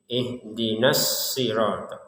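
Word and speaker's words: اهدنا الصراط: Huruf shad di sini tetap ada tekanannya karena ada tasdid. Jadi, ihdinas ihdinasirat. Jadi, semua tasdid di dalam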